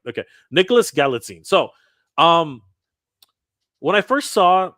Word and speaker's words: Galitzine: Nicholas Galitzine. Sorry, Nicholas Galitzine. I'm gonna get Let me see. it's Galitzine. Galitzine. Nicholas Galitzine? Galitzine. Galitzine. Galitzine. Okay, Galitzine. Galitzine. I'm Yeah. gonna get it right. Okay, Nicholas Galitzine.